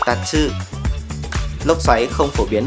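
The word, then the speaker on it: 竜: Ở đây, chữ kanji RYU được đọc là TATSU.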